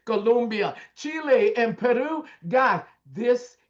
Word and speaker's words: Colombia: Colombia, Chile, and Peru.